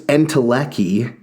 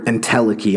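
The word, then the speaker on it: entelechy: in particular he says Aristotle's entelecki or intelliki I say entelecky um it's the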